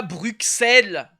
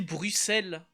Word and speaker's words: Bruxelles: Je dis pas Bruxelles. Ça se dit Bruxelles.